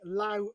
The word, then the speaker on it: Laos: is up by the Lao border LA or Laos the proper or the local pronunciation is La but Laos it sounds like somewhere